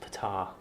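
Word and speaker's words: Ptaah: are very strange no I think it's pronounced Fatah once it's a silent P know like in pterodactyl yeah I hear that oddly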